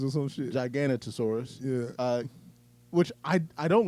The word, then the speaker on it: Giganotosaurus: of that one super big dinosaur is actually pronounced. So now we know that it's Giganotosaurus, not whatever the fuck I said last time. Gigantosaurus or some shit. Giganotosaurus.